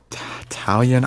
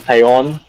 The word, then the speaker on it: Taillon: Jameson Italian. I still have trouble pronouncing his last name, but it is what it is. He'll be our number 3 guy. Jameson Taillon.